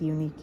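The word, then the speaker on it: Uneek: It's unique yarn, it's called. But it's not, it's spelled differently.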